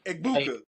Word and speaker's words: Egbuka: Egbuka.